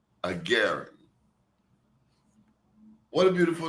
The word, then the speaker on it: Agarin: Agaren. Agaren.